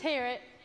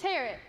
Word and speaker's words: Harriet: It's Harriet. Rhymes with parrot. I'm sorry? It's Harriet.